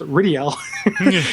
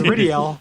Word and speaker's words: Ridiel: Also, his name is Rydell, pronounced Ridiel. His name is Ridiel, pronounced Ridiel, according to these subtitles and dialogue.